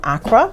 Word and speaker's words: Accra: I have some friends from Accra. Okay. Am I pronouncing it correctly? Yeah, Accra.